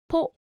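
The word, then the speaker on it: ポ: Ho with a dakten is pronounced bo, ho, bo, ho, bo. And with a handakten, it will be po, ho, po, ho, po.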